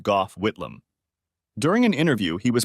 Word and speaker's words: Gough Whitlam: In the 70s, we had a prime minister called Gough, pronounced Gough Whitlam.